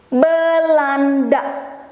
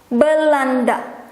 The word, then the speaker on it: Belanda: And in Indonesian, easy breezy L, Belanda. Belanda.